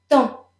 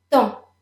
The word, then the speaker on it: temps: Temps. Temps. Both the P and the S are silent. Temps.